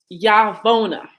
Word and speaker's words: Yaravona: Dr. Yaravona, Yaravona, right? Yes. Pronouncing it right.